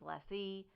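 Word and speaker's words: lessee: rhymes with less ore oil and gas company rhymes with less e so that might be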